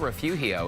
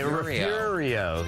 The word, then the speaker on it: Refugio: It's not Refugio, is it? There you go. Yeah, well, Refurio. Refurio. Yeah, Refurio. Yeah, Fury right in the middle.